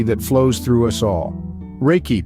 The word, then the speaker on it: Reiki: life force energy that flows through us all Reiki pronounced Reiki is derived from two Japanese words Reay which